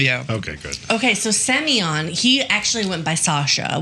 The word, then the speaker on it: Semyon: Semyon, almost like Simon. It's like their version of Simon.